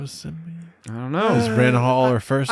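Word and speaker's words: Renhol: Renhall. Renhall. Yeah. She's not Renhall. Renhal.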